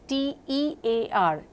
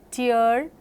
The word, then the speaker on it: tear: It is T-E-A-R, tear in your eye, and tear in your dress. So, tear and tear, same spelling but different pronunciations. One more example.